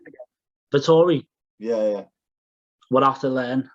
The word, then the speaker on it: Vettori: Vettori. Yeah. We'll have to learn how to pronounce his name.